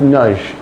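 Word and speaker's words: Nagy: E shouldn't be there it should be n a g y pronounced nud but uh that's side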